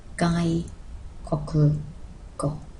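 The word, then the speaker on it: 外国語: And if we put those together, we get outside country language, pronounced gai koku go.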